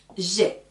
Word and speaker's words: j'ai: Comment je prononce ceci? Je vais le dire comme dans l'alphabet, la lettre G. C'est pareil. Donc, j'écris J apostrophe AI. Je dis j'ai.